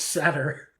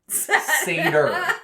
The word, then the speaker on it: Seder: That's Satyr. Seder. There's no Satyr. Okay, There's no T in there.